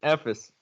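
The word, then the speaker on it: Efes: Cheska and Ephes.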